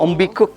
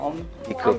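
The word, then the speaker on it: ontbijtkoek: Ombikuk, Om? Ombikuk. Ya, jadi tulisannya bukan gitu ya, Mbak? Tulisannya begini Oh, tapi. tulisannya Bahasa Belanda memang. Bitece koek. Tapi bacanya Ombikuk ya.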